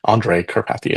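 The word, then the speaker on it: Andrej Karpathy: And there's a a famous guy uh um uh in the AI space Andrew uh Andra Andra uh Karpathy Andre Karpathy is probably the right pronunciation.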